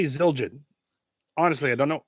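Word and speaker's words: Zildjian: how do you say zilin honestly I don't know it's zild Jin zild Jin that's EX exactly what it is uh there's no other way to pronounce it but zilin um pretty basic pretty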